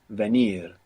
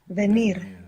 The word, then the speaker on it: venir: The verb for to come is venir. Venir. So, of course, you could hear the, like I just pronounced for you, so you would get the spelling venir. But more commonly, you would hear venir. Venir, Venir. like a soft B.